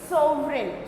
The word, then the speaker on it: sovereign: G is silent, इसको हम क्या पढ़ेंगे? सॉवरेन।